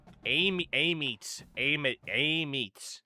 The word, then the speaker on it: Amite: We got the verbal commit from 3-star linebacker from Amite, Louisiana, now known as Amit, or Amit. They don't even know what the hell their town name is. It's got 2 different pronunciations.